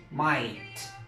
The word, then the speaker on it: might: Entonces esto es una decoración y esta ahí pasa a ser como una I, might.